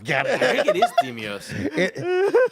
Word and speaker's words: Deimos: I think it is Demios. It's Demios? But it's spelled here, D-E-I. D-E-I. Hold on. Here we go. Hold on. Agogi. Agoge. Agoge. Oh. Okay. We're having fun today. It's Demos.